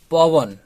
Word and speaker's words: পবন: যেমন ধরুন পবন, এইখানে যে বটি ব্যবহৃত হয়েছে এটি সন্ধিজাত ব, এখানে বটির উচ্চারণ হবে ভ, পবন।